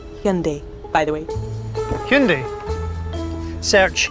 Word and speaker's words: Hyundai: gets your name right it's Hyundai like Sunday so that's what stuck that is what's in stone at least here in America and Great Britain will continue to say it differently than how we say it go figure and Hyundai